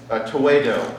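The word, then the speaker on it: Tewahedo: Tewedo, I think, is the correct pronunciation amongst the Ethiopians of their church.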